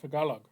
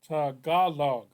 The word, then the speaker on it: Tagalog: Tagalog and English nice say that Tagalog Tagalog T the center syllable is emphasized can I hear him